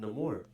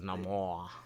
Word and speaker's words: Namor: He said Namor. My name is Namor. It's 2 syllables.